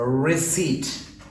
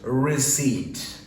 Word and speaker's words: receipt: our receipt it's a receipt here the P is silent so it is receipt this word is pronounced